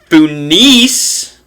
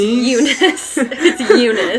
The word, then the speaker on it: Eunice: sister kathleen his sister funis if i pronounce that correctly it's eunice eunice it looks like an f and that dog is